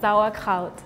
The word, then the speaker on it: sauerkraut: And you said sauerkraut. I'm saying it in an English accent but zawa crowd is the German.